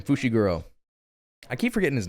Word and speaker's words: Fushiguro: That's That's how you say his name, Fushiguro.